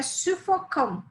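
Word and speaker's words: suffocant: O adjetivo é sufocant, sufocante, C-A-N-T, que não se confunde com sufocant, que é o particípio presente, que se escreve Q-U-A-N-T e se pronuncia exatamente da mesma maneira.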